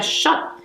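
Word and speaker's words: שוט: El azote es una palabra hebrea que viene, ¿verdad?, de raíz hebrea, que se pronuncia shot o shot.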